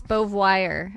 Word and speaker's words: Beauvoir: Actually, I think it's Beauvoir. I think it's Bouye Vucouche. Beauvoir. I think it's Beauvoir, as Jim would say. Like reservoir.